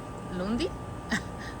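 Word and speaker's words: lundii: Do you know you pronounce it Lundi?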